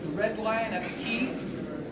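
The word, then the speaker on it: Quay: Our overflow facility is the Red Lion at the Key, and Key is spelled Q-U-E-Y.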